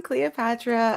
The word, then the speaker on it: Cleoxpatra: Um, as you said, I'm Cleopatra. Um, my screen name is spelled Cleo Expatra, but the X is silent.